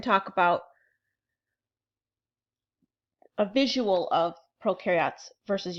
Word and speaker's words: prokaryotes: This little illustration up here shows you that prokaryotes, pro rhymes with no, both of them have a cell membrane, both of them have DNA, both of them have ribosomes.